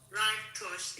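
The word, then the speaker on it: زرتشت: Okay, Shiva, how do you say that religion in Farsi? Zartush. Zashtos. There you go. Zartush, yes.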